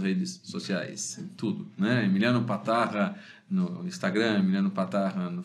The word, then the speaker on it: Patarra: meu não é tão comum assim né Emiliano patarra patarra se escreve com P de Paulo a T de